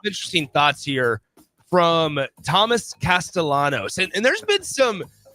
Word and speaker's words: Castellanos: Well, now uh Thomas Castellanos, uh it looks like Castellianos. It is it is pronounced Castellanos.